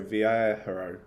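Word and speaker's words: Viajero: um it's spelt v-i-a-j-e-r-o v-air hero um that's quite nice no just clarify that that's 499 pounds yeah 499.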